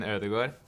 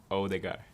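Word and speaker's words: Ødegaard: his name okay hi my name is martin erdogan but you can call me martin odegar okay oh the guy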